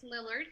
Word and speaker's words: Lillard: It's Lillard, yes.